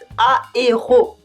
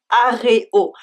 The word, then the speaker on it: aéro: To be clear, it's aéro and not aréo.